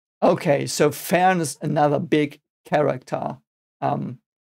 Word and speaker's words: Fern: I did that on sorry F okay so fa is another big character um fa is of course uh The Apprentice of haa and like the grandchild of he so to speak and The Apprentice of fan and uh fan means um distance um fan